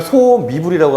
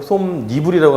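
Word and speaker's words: 솜이불: 소미불 이거를 소미불이라고 하지 않고 솜니불이라고 하는 이유는 야여요이의 이로 시작하기 때문에. 그 다음에 내복 아까 설명했습니다.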